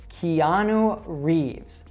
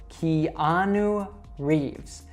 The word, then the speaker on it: Keanu Reeves: So you should say it Keanu Reeves. Keanu Reeves.